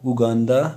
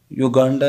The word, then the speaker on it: اوگاندا: او کے ساتھ اوگاندا, یہ ایک ملک ہے جس کا تلفظ یہ لوگ اوگاندا کرتے ہیں اوگاندا. شاید اردو میں اس کا تلفظ یوگانڈا یا اوگانڈا ہوتا ہے, لیکن فارسی میں اس کا طرف اوگاندا ہوتا ہے.